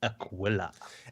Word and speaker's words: Aquila: will tell you that the constellation Aquila which is Latin for Eagle is pronounced Aquila and if you go